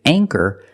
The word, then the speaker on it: anchor: With anchor, the ch makes the c- sound. So for that reason, we pronounce the a with a long a sound. Anor.